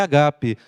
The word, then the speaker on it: agape: usa a palavra agape a gente fala Ágape né mas a pronúncia certa é agape você me ama com